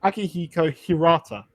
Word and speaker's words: Akihiko Hirata: So his So his name is actually So his name is actually Akihiko Hirata. Okay, that was pretty close. I was off by one syllable, which is better than you could ever do.